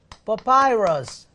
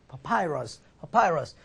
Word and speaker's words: papyrus: 여러분 그 종이의 근원이 아까 제가 파피루스라고 했는데 파피루스는요 영어로는 papyrus 이렇게 발음되거든요. papyrus.